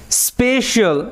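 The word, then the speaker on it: special: আচ্ছা, তারপরে he gave him স্পেশাল, এখানে দেখো CIAL, শিয়াল এরকমভাবে উচ্চারণ হবে, ঠিক আছে?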